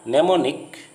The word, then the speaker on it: mnemonic: There is a word called mnemonic. It's start with M. MNEMONIC. The M in the beginning of this word is silent, so it is pronounced mnemonic.